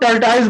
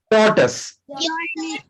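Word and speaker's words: tortoise: कछुआ होता है ना, इसको बहुत से लोग टर्टाइज बोलते हैं, पर आपको मालूम है इसका प्रोनाउंसिएशन क्या है? टॉर्टस, टॉर्टस।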